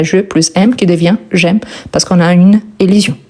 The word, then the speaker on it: j'aime: Donc, on a je plus aime qui devient j'aime parce qu'on a une élision. De même que quand on prononce seulement un mot. J'aime et pas je aime.